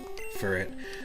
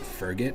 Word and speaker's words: Furret: Furret. So my cousin growing up actually always pronounced it Ferget for some reason when we played Pokemon Stadium 2.